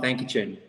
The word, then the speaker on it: Thankachen: it's actually pretty easy it's pronounced exactly like how you look at it it's just thank you chin that can get cool